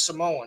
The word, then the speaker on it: Samoa: I worked with a guy that was Samoan, and he pronounced it Samoa.